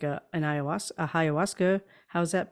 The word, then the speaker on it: ayahuasca: I think I don't know if I want to go as far as it's like a ayahuasca. How's that pronounced?